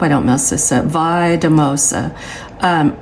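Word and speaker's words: Valldemossa: don't mess this up vosa um it's spelled v a l l d e m o s a but the l l makes the yes sound so oh wait a minute it's vosa vosa yeah so that's how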